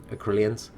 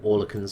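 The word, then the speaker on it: Oerlikon: As you can see, 72%, but you've got quite a few Acrylians just on their single mounts, or Orlicans, sorry, I always mispronounce it.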